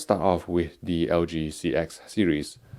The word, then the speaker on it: CX: off with the lg CX series I know it's meant to be pronounced as C 10x is the Roman numeral for 10 just like iPhone 10's iPhone 10 but I'm gonna continue